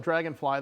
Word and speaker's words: Draganfly: tells the ceo of dragonfly they are publicly traded under the stock symbol d-f-l-y-f uh you can go to dragonfly dragon is spelled with an a though so it's d-r-a-g-a-n fly uh you can go